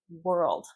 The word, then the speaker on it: world: Well, this is really hard to pronounce because the O is not pronounced like an O. World. World like where were you? Were Were World. Not world. World were old. L D. World. You kind of swallow the L D.